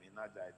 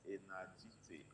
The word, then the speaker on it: Enajite: You pronounced my other name, Enajite. It's Enajite.